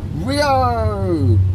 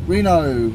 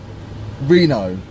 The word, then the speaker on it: Reno: Because we're heading to Rio! Reno, I said it wrong.